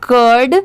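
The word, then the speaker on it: cured: इसे क्या पढ़ेंगे कर्ड एक चीज आप याद रखिए कि जहां पर भी लास्ट में डी हो वहां पर कोई भी वर्ड के बाद में उसको प्रोनाउंस करने के बाद में ड की साउंड जरूर आएगी तो जैसे सी यू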